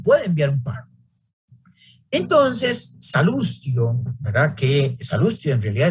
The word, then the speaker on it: Salustio: O Salustio, la pronunciación correcta en latín, y dice que de